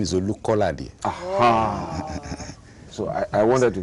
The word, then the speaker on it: Olukolade: My name is Olukolade.